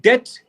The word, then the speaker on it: debt: Like for example, if I say doubt, be silent. Yes or no? Silent. Be silent. And when I Yeah. say like debt, again be silent.